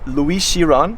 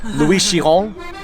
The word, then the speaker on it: Louis Chiron: So Louis Chiron, I didn't pronounce that perfectly. It's Louis Chiron.